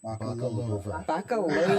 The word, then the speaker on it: Bakalova: Oh, sorry, I mispronounced that. Bakalova.